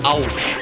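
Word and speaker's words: Owtch: It's called Ouch. O-W-T-C-H. Yeah, it's spelled, obviously it's a play on the word ouch, you know, pain, because they're spiky and whatnot.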